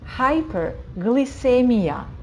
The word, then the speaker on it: hyperglycemia: Как только эмия, там буковка И, буква С перед буквой И читается как С, hyperglycemia.